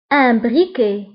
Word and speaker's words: briquet: ولاعة un briquet un briquet un briquet. فبالنسبة للبريكي تكتب بالتي ولكن لا ننطقها تكتب بالتي في آخر الكلمة ولكن لا ننطقها.